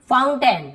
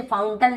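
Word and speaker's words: fountain: होता है, केवल अ, ए आई लिखा है लेकिन हम अ उच्चारण करते हैं। एग्जाम्पल देखते हैं, जैसे कि फाउंटेन, हम इसे फाउंटन लिखा हुआ है, फाउंटन,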